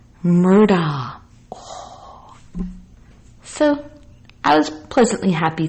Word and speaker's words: Murdaugh: in this 9-1-1 call guess how it's said murder so i was pleasantly